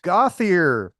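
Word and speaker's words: Gauthier: yeah g I think I think it's go or something that was really how it's pronounced gothier g t h i e r having a glass of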